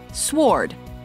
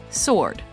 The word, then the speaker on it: sword: to to me soared common mispronunciation sward correct pronunciation sword salmon common mispronunciation salman